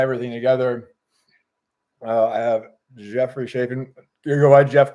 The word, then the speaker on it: Chafin: just to tie everything together I have Jeffrey shaen you go by Jeff correct and I pronounced your last name yep right so I'm